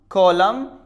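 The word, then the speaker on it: column: After M, अगर एन आता है एम के बाद या फिर इन द एंड तो हम यहां पर एन को प्रोनाउंस नहीं करते हैं। Autumn, कॉलम, हिम, डैम। जैसा आपने देखा कि यहां पर एन है वो साइलेंट है क्योंकि एम के बाद में आया।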